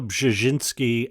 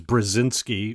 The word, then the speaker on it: Brzezinski: 2, and today I am ranting about Mika Brzezinski and Joe Scarborough. First, let me say that is the correct pronunciation of what many of you probably thought was Brzezinski or something like that.